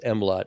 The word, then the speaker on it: MLOTT: Okay, so the initial is, actually it's an acronym, because you can pronounce it as MLOT, MLOTT, which is money left on the table.